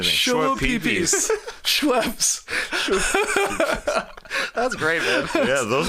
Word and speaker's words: Schweppes: How do you pronounce Schweppes? The soda drink. Yeah, what was that short you sent? Shua Peepees?